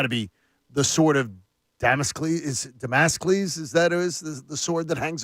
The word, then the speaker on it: Damocles: Damascus? Yeah. Wow. No, Damocles. You're going to have to look it up. Because I'm mispronouncing it, I'm sure.